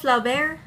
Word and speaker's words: Flaubert: And then we have Gustave Flaubert. I don't know, I feel like this name, you see the T, but you don't pronounce it.